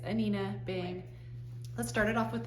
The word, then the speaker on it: Anine Bing: is behind it all and her name is pronounced anina Bing it looks like anine Bing or I've heard people pronounce it Annie Bing but it's anina bang let's start it off with this t-shirt it's